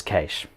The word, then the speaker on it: cache: in a sound so the proper pronunciation is cache sorry Scott its cash so we're gonna talk